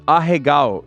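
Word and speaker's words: アヘ顔: How do you say it? Ahegao.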